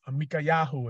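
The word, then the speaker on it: מיכיהו: Micaiahu, if you remember the actual Hebrew pronunciation.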